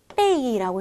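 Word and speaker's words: 被: 우리 요 아이 어떻게 읽어요? 빼이라고 읽죠.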